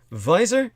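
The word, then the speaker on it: Weiser: written by the authors visor and francis co-authored by a man named visor spelled v e v-e-i uh excuse me w-e-i-s-e-r germanically pronounced like a v and francis which is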